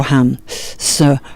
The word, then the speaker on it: hamsa: hamsa flying bird meditation hamsa I'm pronouncing that in English is actually a version of the mantra I'll do it the way we do it with the breath home so ham so home and the other way